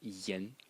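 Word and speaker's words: 言: And the semantic element in this character is pronounced yen.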